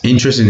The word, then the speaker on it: interested: isn't interested in politics just interested remember the pronunciation is in dress did yes interested in politics he's interested in music now this